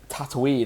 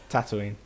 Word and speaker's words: Tatooine: or whatever is the same as here, whereas Tatooine, or I can never say it right, Tatooine.